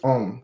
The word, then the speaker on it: homme: Man is on. The H is silent. See, they don't say the H.